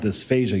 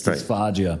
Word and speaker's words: dysphagia: It's not dysphagia. You didn't say it. It's dysphagia. Right. Yeah. Dysphagia is actually a vocal cord problem. So dysphagia is the proper pronunciation.